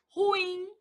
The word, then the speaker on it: ruim: Ruim. Ruim é uma palavra oxítona.